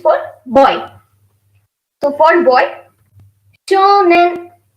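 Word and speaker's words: 少年: So for boy, shonen, shonen, shonen. O is prolongated here, so they write U in Romaji.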